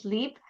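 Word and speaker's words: Sliip: It's spelled S L I I P but pronounced sleep. So throughout this conversation, you might get confused between our brand name and the word SLP. We pronounce it the same way. It's just that it's spelled with three I's.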